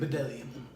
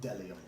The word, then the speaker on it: Bdellium: Bedelium. Bedelium, but the B is silent. Yeah, So it's just Delium.